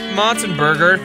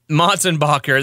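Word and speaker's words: Motsenbocker: Coming to Albuquerque May 1st at the Lobo Theater, Tyson Motzenberger, Tylen Motzentackle, Tyson Mulber Tackle. No. Hey, Daniel. Yeah. What's this? How do you pronounce this guy's name? Matzenbacher. Motzenbacher, that's right.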